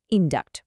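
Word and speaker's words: induct: উচ্চারণেও একটা পার্থক্য আছে। একটাতে স এর মতো সাউন্ড ইনডিউস, আর অন্যটাতে ক এর মতো সাউন্ড ইনডাক্ট।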